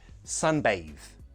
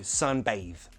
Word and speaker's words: sunbathe: Pronunciation, sunbathe. Bathe, not bath. It's got the word bath, but that magic E changes it to sunbathe.